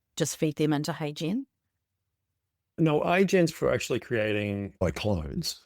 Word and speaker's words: HeyGen: So, is it HeyGen or AI Gen? Just spell it out for our listeners. It's HeyGen as in H E Y Right. G E N. HeyGen.